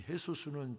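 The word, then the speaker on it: Jesús: 이 헤수스는 지저스의 그 나라의 발음입니다.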